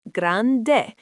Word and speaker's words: grande: Big is grande, pronounced grande.